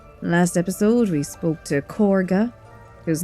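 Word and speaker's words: Kagha: the Grove already last episode we spoke to corga who name is weirdly pronounced like that even though it's spelled with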